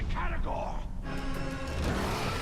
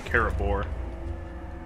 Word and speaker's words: Caragor: It's a Caragor! Next time, Ranger. Next time, Yeah, I keep saying it wrong. I keep saying Carabor.